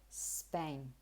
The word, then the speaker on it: Spain: So you should say Spain. Let me give you a tip to pronounce this properly, especially if those words come after another word.